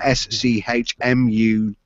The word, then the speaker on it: Schmugg: You spell that SCHMUGG, Schmug.